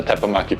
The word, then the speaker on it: Teppanyaki: Integrated exhaust, so you have a seamless ceiling, and of course, a Teppanyaki plate.